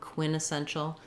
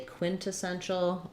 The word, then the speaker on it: quintessential: In this one, I would probably most typically say quintessential um, just because I think quinessential sounds a little bit sloppy to my ear. Um, I don't think there's any particular rule to that. Um, quintessential Um, so that would sound like quin ta sen shul. Um, with the stress on the sen syllable, the IPA being quin ta sen shul.